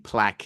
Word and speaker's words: plaque: Plaque. It's one of those great English words with a Q, and it sounds like a K.